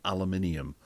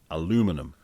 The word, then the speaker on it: aluminium: or aluminium properly and it turns out the original word is aluminum and it was adapted for British English to aluminium and then the Americans changed it back to aluminum to what it originally was so we can can't go and go a Americans can't pronounce aluminium because we're the ones who are pronouncing it wrong in the first place it's aluminum annoyingly it looks lovely though